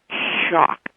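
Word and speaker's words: Schoch: of the rocks and it's by Robert uh shock I think you pronounce his name it's s c h o o c h okay actually it's Robert M Robert M shock s c h o c h okay again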